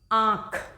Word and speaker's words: आँख: तो आप बोल के देख लीजिए, आँख, है ना। तो आँख मुंह से और नाक से इसका उच्चारण हो रहा है, और किन दो अक्षरों के बीच में? आँख, इन दोनों के बीच में ये अनुनासिक की ध्वनि निकल रही है।